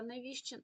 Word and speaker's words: невістчин: доб кістка кістці невістка невістчин у вимові тут насправді невістка невіщин у подібних спрощеннях вони позначаються на письмі тобто на письмі ця літера випадає А у умові вона залишається тому навіщин ми не чуємо але пишемо з невістка